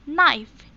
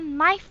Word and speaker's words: knife: And then ada knife. Dibacanya knife ya, bukan knife.